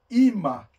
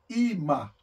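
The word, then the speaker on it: אמא: palavra tem um Alf mas ele não tem som então pronuncia ima ima mãe ok então para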